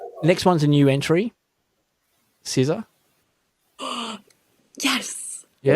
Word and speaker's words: SZA: I used to say SZA, S-Z-A, SZA. But no, it's SZA.